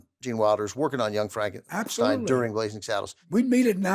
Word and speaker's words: Frankenstein: Frankenstein. Frankenstein. You're putting me on. No, it's pronounced Frankenstein.